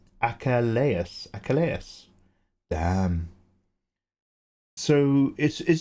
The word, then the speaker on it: Achilles: Achilles is pronounced Achelus. A achalas.